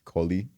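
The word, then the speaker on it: Collie: Like like I don't know her name because it's a long ass African name that I can't pronounce, but I just know my last name is Kohi.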